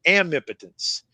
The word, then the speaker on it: amipotence: And so I invented a new word, and I pronounce it, Warren, amipotence.